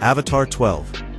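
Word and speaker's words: Avatr 12: It's pronounced Avatar 12, but the name isn't the weird part.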